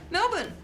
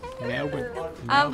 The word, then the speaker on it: Melbourne: Where is she right now? Melbourne. Oh, and you said it wrong. Melbourne.